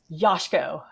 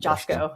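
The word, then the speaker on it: Joško: And I showed her a picture of Vardial, and she was like, "His name is pronounced Yoshko, not Josko." So Justin. Josh, though. Yosh, like Yoshi.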